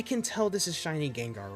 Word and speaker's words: Gengar: So, black has Charizard, Greninja, Gengar, or as one of my friends pronounced it, Ganga. I'm not joking. They They literally said Ganga.